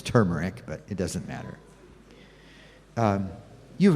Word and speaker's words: turmeric: know you sometimes peop some people say tumeric and that's just fine the real pronunciation is turmeric but it doesn't matter